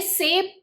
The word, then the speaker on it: सेब: सेब। ये सेब प नहीं है, सेब है।